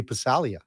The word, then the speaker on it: Passaglia: I mean, Louis Passaglia, Halsey would call him Louis Passalia because it's a soft G.